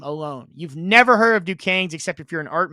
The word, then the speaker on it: Duquesne: I know it's Duquesne's, but it's spelled and it looks like Desquesne, but it's Duquesne's.